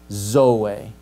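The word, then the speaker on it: ζωή: So the Greek word, if I have the zeta in the middle, sodz, sodzo. But if it's at the front of a word, zoe, for life, right? So sodzo, zeta in the middle, zoe, zeta's at the beginning. So in the middle, it's a sibilant. At the beginning of a word, it's not, right?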